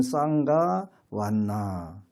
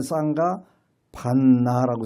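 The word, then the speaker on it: saṅgha vaṇṇa: 여기는 쌍가 반나라고 써 있는데 요 반자가 V자가 써 있어요. 근데 오늘날은 그 남방에서 V 발음을 안 하고 전부 다 그냥 이응 발음으로 하더라고요. 그래서 쌍가 완나 이렇게 배워요.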